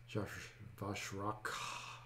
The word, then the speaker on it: Vashrak: And R-A-K-H, so however you pronounce that in your head, that's how I'm pronouncing it. Vashrak.